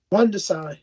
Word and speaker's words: Rungvisai: I always get his name wrong. Rungvisai.